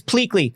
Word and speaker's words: Pleakley: He's Pleakley.